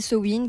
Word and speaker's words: Samhain: Et du coup, Samin, prononcé Sowin, qui vient des sabbats de sorcières, qui est l'un des plus importants sabbats de sorcières.